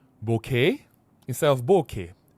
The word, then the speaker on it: bokeh: So it says, it's properly pronounced with bo from bone. Bo from bone, right? And K from Kenneth.